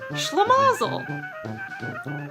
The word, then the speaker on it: schlemazel: SCH words that take the sh sound usually come into English from German, Russian, or my personal favorite, Yiddish.